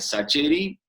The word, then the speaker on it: Sacheri: más de vuelta porque yo antes lo pronunciaba shaker y empecé a tolerar primero y resignarme después al sacheri cuando mi apellido empezó